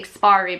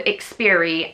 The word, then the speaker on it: Ikspiari: I always say it wrong. I always want to say Ikspiari because of how it's spelled. To me, it reads Ikspiari, but it's supposed to be called Ikspiari, and it's called Ikspiari